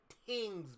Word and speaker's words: tings: Tings, brother. Tings. Caribbean slang, tings. A lot of people in Toronto say that, bruh. It's not women, it's not thing, it's tings.